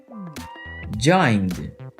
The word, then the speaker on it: joined: final repeat join join este verbo termina com qual consoante com n vamos regular o verbo com Ed e agora vamos pronunciá-lo Você já viu não consta n nessa lista então ele vai ter som de D repeat join joined Excel